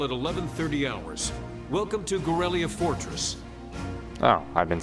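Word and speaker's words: Garellia: Welcome to Gorelia Fortress.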